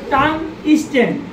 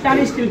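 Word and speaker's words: tungsten: চিনি এটা চিনি সবাই জি স্যার স্যার এটার উচ্চারণ হইবো টান স্টেন কিন্তু আমরা টান স্টিল টান স্টিল করি কিন্তু টান স্টে ঠিক আছে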